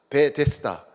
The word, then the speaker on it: 베데스다: 벳 헤세드 해서 발음이 베데스다가 된 거예요.